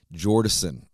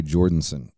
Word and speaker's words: Jordison: his name was jordinson i did not notice that there was not an n in his name jordison so i always said joey jordanson and somebody pointed out